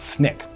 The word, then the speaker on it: SNCC: Student Nonviolent Coordinating Committee, often referred to as SNCC (pronounced as Snick).